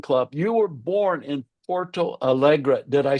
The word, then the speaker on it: Porto Alegre: You were born in Porto Alegre. Did I say that right? I love your pronunciation, Dr. Noel. That's great. Porto Alegre, Yep.